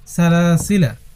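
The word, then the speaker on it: سلاسلا: যেমন সালাসিলা এইযে সালাসিলা এইযে লাম আলিফ যে আছে এই আলিফটা উচ্চারণ হবে না।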